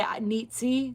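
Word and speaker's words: Nietzsche: I say nitsy ne I say his name I say his last name wrong all the time but it's something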